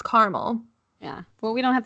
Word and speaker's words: Carmel: It's not caramel, it's Carmel.